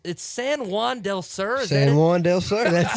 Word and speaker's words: San Juan del Sur: It's San Juan del Sur.